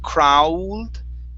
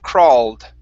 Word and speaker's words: crawled: Okay, so when you see that AW instead of crowled with an oo sound, it's only going to be an ah. Crawled.